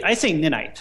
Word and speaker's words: Ninite: So now, how long did it take to complete Is it Ninite or Ninite? Oh, I say Ninite.